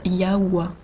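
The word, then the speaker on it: Yahvé: y avait ouias oui mais nous savons que le véritable nom de dieu se prononcent yawa eia en hébreu ancien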